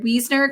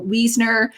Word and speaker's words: Wiesner: saying it right weasoner cuz my name is Seaford SI e so in German you always if it's an eye and an E together or a I you always pronounce the letter the second letter so Wiesner but if it was Weisner it would have been a I just a little German language lesson so she's written a